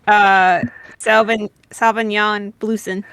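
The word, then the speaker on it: Sauvignon Bleuson: It's Sauvignon Blueson. Sauvignon. Spell that, please.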